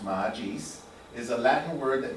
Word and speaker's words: magis: So, magis, pronounced magis, is a Latin word that means more or better.